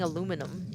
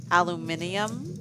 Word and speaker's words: aluminium: texas that definitely have who has a hard time seeing aluminum aluminium aluminium aluminum that would be uh british people there was a girl